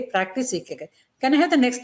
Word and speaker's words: ikigai: Pronounced as ikigai.